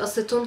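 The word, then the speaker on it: acétone: Bu nasıl okunuyor? Hemen bakalım. Silikon deniyormuş Fransızcada. Şimdi bir sonraki kelimeye geliyorum. Aseton. Sizce aseton hangi dilden gelmiş olabilir?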